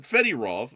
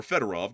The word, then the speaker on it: Fedorov: Um but Fettyrov or Federov to say his name actually correctly.